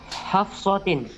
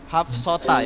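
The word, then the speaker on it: حفصة: Dia bacanya Hafsota ya. Oke. Nah, ini salah Ustaz ini. Hafsota.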